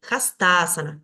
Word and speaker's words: hastasana: el acento en la sílaba fusionada entonces para pronunciar esto voy a decir hastasana donde está acá el el subrayado vemos ahí